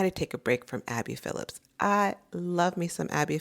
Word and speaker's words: Abby Phillip: And I'm saying it wrong. Abby Phillips. Um I always want to add it esto, but Abby Phillip is a journalist on CNN.